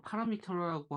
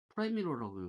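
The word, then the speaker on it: parameter: 근데 실제로 미국에서 파라미터라고 하면 못 알아들어요, 사람들은. 프라이미러라고 해요, 프라이미러. 이게, 물론 캘리포니아 쪽, 서부 쪽은 이렇게 읽고, 동부는 아마 파라미터라고 읽을 수도 있어요.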